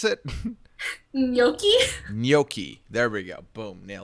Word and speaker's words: gnocchi: educate me on the um how do you pronounce it gnocchi gnocchi there we go boom nail yeah all right